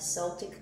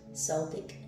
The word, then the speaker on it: Celtic: some of you have celtic roots celtic celtic you can pronounce it either way but yeah labor this